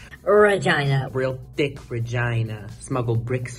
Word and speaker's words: Regina: the illustrious city of Regina and it's not Regina it's specifically supposed to be pronounced Regina real thick Regina smuggle bricks from China you